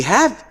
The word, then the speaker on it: have: Here in this case, some students may be confused because we have E, consonant vowel sound, and A. Here we do not say that because E is not pronounced.